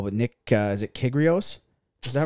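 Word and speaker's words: Kyrgios: for sure um what was another i can't pronounce his last name very well but nick uh is it kigrios is that right yeah yeah yeah yeah exactly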